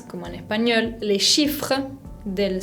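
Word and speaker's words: deux: demasiado la n final el número 2 se dice de que tiene una equis al final que no se pronuncia el número 3 se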